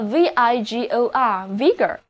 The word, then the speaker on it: vigor: 另外，如果飞机失事，掉下来的残骸，或者失事的轮船，也用一个词来表达，这就是 wreck，叫做 wreck。wreck，著名的 Titanic 泰坦尼克号撞到了冰山之后，有其他的船来营救过它。这里就是 save a ship from wreck。save a ship from wreck 就是营救失事的船只。接下来来看看这个词根 vig，它也表示活力。那么在它的后面加上 or 这个名词后缀，就得到了 vigor 这个单词。字母 i 要读作短的 e，而字母组合 or 要读作短的 a。vigor。意思就是活力、精力。德国作曲家贝多芬 Beethoven，他的第三号交响曲全称是回忆一位伟大人物的英雄交响曲，也就是我们熟悉的英雄交响曲。听过的朋友都会同意我的观点，整部交响曲音乐气势磅礴，